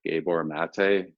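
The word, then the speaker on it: Gabor Maté: helpful and so she's actually worked with dr gabor mate i believe that's how you say his name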